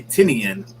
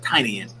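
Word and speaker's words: Tynion: name right james tinian i usually say tinian but i heard his tiny in and you know he's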